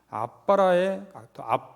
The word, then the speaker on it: 아바: 그것이 바로 아바라는 개념인데 이 아바라기보다는 원래 히브리 사람들의 발음상으로는 아빠에 더 가깝다는 거죠.